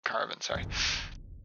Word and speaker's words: caravanserai: Yeah, Caravanserai. Just had to check my pronunciation there.